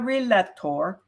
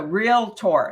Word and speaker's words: realtor: to become a realtor not a realtor or a relay door it's a realtor it's two syllables realtor so we must be